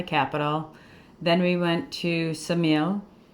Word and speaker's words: Ksamil: Then we went to Samil. Ksamil. All right. We were corrected pretty early on. It's spelled k s a m i l and